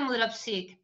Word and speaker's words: Mudrovcic: Sí, no, me pronunciaste, es decir, se pronuncia Mudropsik, pero no importa, ya estoy acostumbrada.